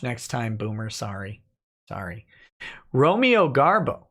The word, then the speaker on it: Romeo: it's ice also Nick my name is pronounced like the Shakespearean play character of the same name just so you know